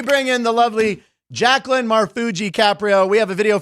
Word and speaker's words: Marfuggi: Marfuggi, I said it right.